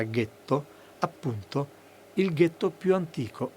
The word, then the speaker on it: ghetto: È ben noto che nella primavera del 1516 a Venezia è nato, nella zona detta del getto nuovo delle fonderie, per gli ebrei tedeschi la pronuncia era ghetto, appunto il ghetto più antico al mondo.